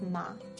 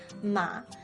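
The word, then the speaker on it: 马: the word for horse ma except for the tome thing mother uses the first tone ma horse uses the third tone ma and because the pronunciation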